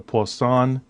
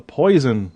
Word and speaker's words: Poisson: about the poisson distribution let me just point out that's how it's pronounced the poisson distribution it's not like someone said in the class once the poison distribution that did happen